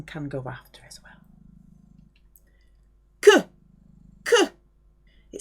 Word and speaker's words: queue: Que. It sounds like que, the Q-U-E. Que. Pronounced like that because Q-U is a K sound.